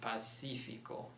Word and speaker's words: Pacífico: Pacífico.